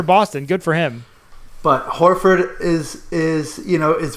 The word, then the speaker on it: Horford: Horford.